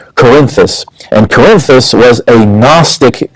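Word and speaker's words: Cerinthus: They said the the author of the gospel of John was a man named Corinthus which is spelled C E R I N T H U S Corinthus.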